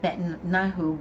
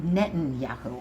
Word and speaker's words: Netanyahu: with Trump it was somewhat superficial with with betanahu but it was just something from a lot Netanyahu I said it wrong anyway said it wrong